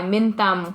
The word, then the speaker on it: Minh Tâm: own my identity I'm going to go by minum which is like my middle and first name